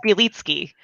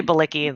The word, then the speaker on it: Bielicki: do the work uh it's biliski most people say belicky that's that's fine is that russian polish